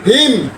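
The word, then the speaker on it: hymn: এম এন, এইস ওয়াই এম এন। হিম হিম হিম, এইস ওয়াই এম এন, হিম। তাহলে এখানে এন এর উচ্চারণ হয় নাই।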